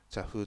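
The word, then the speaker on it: 茶壺: 茶壺と書いて茶風と言います。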